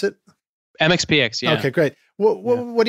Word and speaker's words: MxPx: Is that how you guys pronounce it? MxPx, yeah.